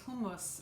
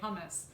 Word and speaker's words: hummus: we're going to make authentic lebanese hummus or as americans say hummus this recipe came all